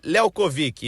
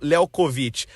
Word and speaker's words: Léo Covic: Ele até falou que o a pronúncia do nome dele é Léo Covic e não Lékovit.